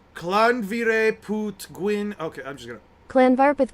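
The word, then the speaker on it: Llanfairpwllgwyngyll: Okay, it's pronounced Clanvire Put Gwyn.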